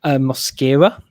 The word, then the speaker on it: Mosquera: is uh your son muscara as dan told me rightly before the show when i was like how do you pronounce it when it's mascara but slightly different so give you a